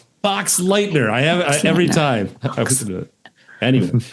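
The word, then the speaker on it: Boxleitner: But it was nice seeing Bruce Bixer like really Bruce Bruce Bod, how do I pronounce his name? Box Lightener is right. Yeah, Box Lightner.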